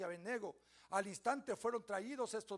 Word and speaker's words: Abednego: Y luego les enumera: Sadrach, Mesach y Abednego, o Abednego también, porque no tiene acento en la O.